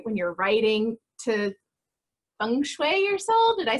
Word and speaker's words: feng shui: When you're writing to feng shui your soul.